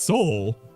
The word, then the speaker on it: Seoul: this one is in Seoul Korea Seoul sail or Seoul Korea I don't know how to pronounce it oh really this one is in he said it right the first time it's Seoul uh pick up sale